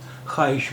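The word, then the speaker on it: خواہش: इसी तरह हम इसे ख्वाहिश नहीं बोलते हैं, ख्वाहिश बोलते हैं। तो ऐसा क्यों है कि यहाँ पर वाव साइलेंट है, वाव की आवाज़ नहीं है।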